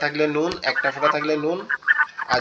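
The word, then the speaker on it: نون: উপরে যে অংশটা আছে, জিহ্বার আগাটা এই উপরের অংশের সাথে লাগবে। কিভাবে? নুন নুন, সিম্পল এরকম, ঠিক আছে।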